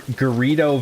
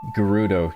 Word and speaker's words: Gerudo: Are you past Ger Gerrio Valley or how or however it's spelled? See, here we go. Now we're done. We're good. This is This is what we needed. Gerudo, you're not a true Zelda fan.